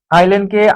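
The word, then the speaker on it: island: এখানে বলা হচছে secret matter এখানে কি হবে আইল্যান্ডকে আইসল্যান্ড এটা আইল্যান্ডই হয়।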